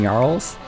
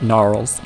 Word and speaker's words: Gnarls: Now with Mimic and Gnarls, and yes, that is the correct way of pronouncing it, not Gnarls, not Gnarls.